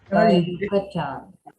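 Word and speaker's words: Yucatán: How do we pronounce that third one? The third piece is the yak. That Panthera Onca gold money. Yucatan.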